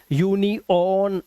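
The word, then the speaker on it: union: जैसे टेलर, अर की आवाज आई, देखो अर, है ना, डॉक्टर, अभी से डॉक्टर, टेलोर, यूनियन, ऑन, ओ की आवाज नहीं है, आ की है, यूनियन, लेसन, तो यहां पर आवाज आ रही है अन, है ना, अन, अन, अन।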